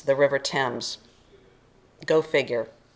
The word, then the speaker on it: Thames: though it looks like Thames with a th sound it's like the name of a boy Tim with a z Thames the River Thames go figure it's British